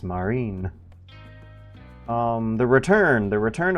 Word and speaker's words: Martin: um Martin Ferrer and I if if you're saying it correctly French style uh the T is silent so it's Marin um the return the return of Martin Greer.